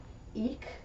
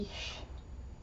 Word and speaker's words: ich: the k or the So, you can say isch or ik. But when it comes to really speaking fluently, you're going to kind of combine the two. It's going to be isch.